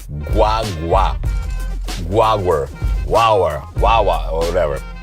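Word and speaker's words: guagua: say it right guwa guaga guaga it's almost like G way but fast it's almost like guwa but guaga you don't want to say guwa you want say guaga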